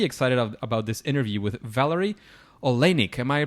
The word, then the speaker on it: Valary Oleinik: So I'm pretty excited about this interview with Valary Oleinik. Am I pronouncing that right, Valary?